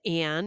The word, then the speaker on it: On: my name is On, pronounces Anne in English, and I've been listening to your podcast for 2 years from Japan.